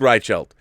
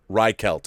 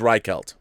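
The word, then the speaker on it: Reichelt: take care everyone ride Scheldt yeah you've been nailing my last name the pronunciation it's Reich alt ok ok it is right Celt right Celt right count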